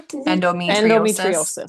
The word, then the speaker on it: endometriosis: Endometriosis.